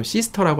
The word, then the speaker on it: sister: 근데 sister 할 때는 ter 발음 다 해주는 게 보통입니다.